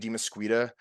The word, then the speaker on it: DeMesquita: platforms are my actual name which is David dimasqueta which is d e and then it's spelled like mosquito with an a at the